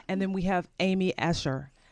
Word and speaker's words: Escher: And then we have Amy Escher. Escher.